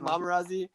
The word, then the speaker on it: Momarazzi: a play on pap we pronounce it mamarazzi but um it doesn't